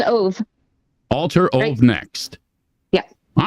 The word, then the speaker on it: Ov: The band I'm talking about, by the way, and correct me if I'm wrong, if I'm pronouncing this incorrectly, Alter Ov Next. Yep, it's Ove.